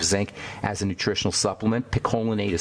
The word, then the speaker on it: picolinate: you always have zinc acetate zinc gluconate zinc picolinate or you'll have you'll have a selenium monomethionine